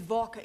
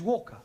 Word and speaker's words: Walker: more all that Mrs vka is keeping me busy Anna do this Anna do that she is a slave driver at Mrs Walker Walker what w is pronounced your employer's name is Walker yeah Walker do you